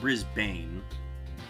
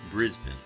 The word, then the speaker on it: Brisbane: It's not Brisbane, it's Brisbane, right?